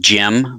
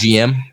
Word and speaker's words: GM: you think it is GM yeah I was always a GM I was a GM until I started working with sunrise and I was like I gotta say Jim oh so they always